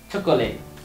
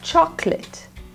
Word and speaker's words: chocolate: clothes next word chocolate and not chocolate it's two syllables chocolate chocolate okay next one step